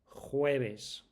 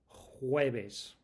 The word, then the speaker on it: jueves: jueves jueves I'll say that again cuz that's quite a strange sound for non-native speakers. jueves Remember what we said about the v sound